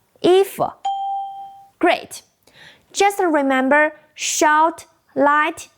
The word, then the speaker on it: 衣服: First, E is a fourth tone. Second, F is neutral. 衣服.